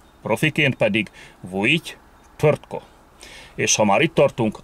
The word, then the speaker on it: Vujity Tvrtko: Az említett népek nyelvében nem ritka, hogy akár négy vagy öt mással hangzó is kövesse egymást. Ilyen esetekben a kiejtésbeli nehézségeket kiküszöbölvén az R betű elé, amennyiben nem kezdőbetűről van szó, beiktatnak kiejtésnél egy rejtett, úgynevezett fantom ő betűt, egy ő magánhangzót, alig érzékelhető módon.